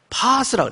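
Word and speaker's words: πᾶς: 이 모든 병과 모든 약한 것, 이제 헬라 음역으로 파스라고 그래요. 파스. 이게 멍들어오면 붙이는 그런 파스가 아니고 헬라 발음이 파스예요.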